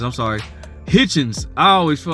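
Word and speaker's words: Hitchins: Gary Antoine Russell you got Richardson hiton Richardson hitchon I'm sorry Hitchens I always feel like his name was hard to pronounce Richardson Hitchens Africa just freaking I just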